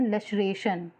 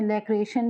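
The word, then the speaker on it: laceration: मतलब मांस होता है, इसको बोलते हैं लेशरेशन, या आप प्रोनाउंसिएशन में लैक्रेशन भी बोल सकते हो, ठीक है, तो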